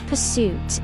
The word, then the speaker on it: pursuit: The stress is on the second syllable.